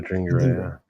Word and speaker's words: Adingra: matchup with Toma and trying to get Simon Adingra. Is that how you pronounce his name? Oh, Adingra, yeah.